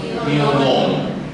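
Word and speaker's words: Pío Nono: Ya se escribe Pío nu, pero no se dice tío nu, se dice tío nono.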